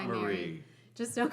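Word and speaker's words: Maire: My name is spelled M-A-I-R-E. A lot of you already know that, but for those of you who don't know me yet, it's a Scottish spelling. And I do pronounce it Mary. When we were in Scotland, I think they did confirm that it would be pronounced or Moira.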